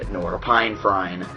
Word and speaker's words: norepinephrine: It releases large amounts of serotonin, dopamine, and norepinephrine. That's the correct pronunciation.